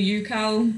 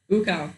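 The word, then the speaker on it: Ucal: I tend to say Ukal, but I have been told this is wrong. It is wrong. She knows how to say it. How do you say it? Ukal.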